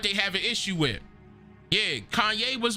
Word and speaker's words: Ye: out of his mind let me say it right his name ye now they thought that